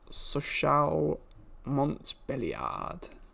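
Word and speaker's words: Sochaux-Montbéliard: it's another domination game fcsm is pronounced sochal montbelliard i was close i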